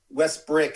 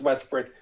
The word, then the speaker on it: Westbrook: have they have davis back they have westbrook west brick excuse me that guy be calling westbrook here you mispronounced it the first time i know it's westbrook so long story short camilla anthony same draft